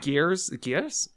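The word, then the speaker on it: Gries: Gears? The werewolf vampire guy. Grease.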